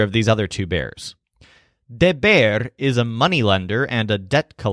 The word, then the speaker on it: deber: by a bear named Deber. As a quick note, you may have noticed that all of our verbs that have the stressed syllable ber in the infinitive are all different people.